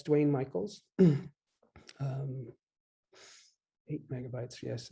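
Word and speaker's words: Duane Michals: are clear oh that's duane michaels d-u-a-n-e-m-i-c-h-a-l-s it's spelled unusually there's no e but that's dwayne michaels um eight megabytes yes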